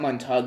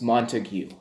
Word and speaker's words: Montague: me one second okay so it's not montague it's montague okay so the montague um